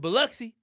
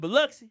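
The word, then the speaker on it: Biloxi: Beluxy. That's how you say it. Beluxy.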